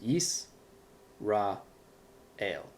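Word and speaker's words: ישראל: So that's why Yisrael is actually 3 syllables. Yis, Ra, El. And you would actually pronounce it like that, Yisrael.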